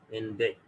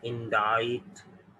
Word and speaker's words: indict: You will pronounce it indict, but this is wrong pronunciation. The correct pronunciation is indict. इसमें C silent है।